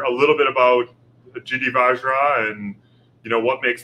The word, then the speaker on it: Vajra: as if it was Vajra, so Vajra. So you think Vajra, right? There's no, we don't pronounce the J as hard as we do here in America.